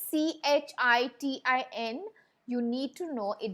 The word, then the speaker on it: chitin: that the body is covered with a tough chitin is cuticle okay now i'd like you to